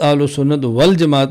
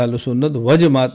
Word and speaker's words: اہل سنت والجماعت: و جماعت نہیں لکھنا۔ تلفظ اہل سنت والجماعت ہونا چاہیے، اہل سنت و جماعت نہیں ہونا چاہیے۔ ایک ہے کہ انسان